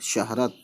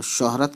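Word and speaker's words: شہرت: ठीक है, लेकिन हम थोड़ा शौ करके पढ़ते हैं, ज़बर ज़रूर है लेकिन शौ, शीन छोटी है ज़बर शह, रे ज़बर र और ते, शहरत है ना, तो शोहरत कहते हैं है ना, हालांकि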